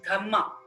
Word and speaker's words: dhamma: piali in piali language DH is pronounced as dhma d h m m a so through his Dharma